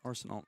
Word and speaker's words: Arsenault: Is that how you say it, Arsenault? Arsenault, that is correct. Arsenault. Yeah, looks how it sounds.